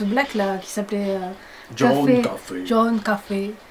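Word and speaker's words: Coffey: À chaque fois que je vois ce black là qui s'appelait John Café. Ça s'écrit comme le café, mais... Non, ça se dit comme le café, mais ça s'écrit pas...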